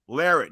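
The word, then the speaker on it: Larratt: Hey, Big B, does everybody know that it's pronounced Larrett, not Larat? It's Larrett.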